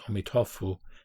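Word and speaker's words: 阿弥陀佛: lotus sutra he says in chinese the pronunciation is omitofu and in japanese amida this buddha amir buddha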